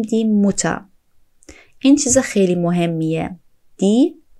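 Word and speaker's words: Mutter: دوستان توجه کنید وقتی که در زبان آلمانی جایی دیدین که یک دونه حرف دو بار پشت سر هم اومد اون حرف کوتاه تلفظ میشه. در واقع اینجا نمیگیم دی موتا بلکه میگیم دی موتا این چیز خیلی مهمیه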